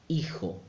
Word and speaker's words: hijo: time is you an age in Spanish don't pronounce it a total make any effort so affair affair hermano brother hijo son sound and five again most Spanish speakers